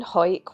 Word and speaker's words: Hawick: next stop at the town of Hoyke. So, once in Hawick, we parked up at the Common Haugh car park. Well, that's how you say it.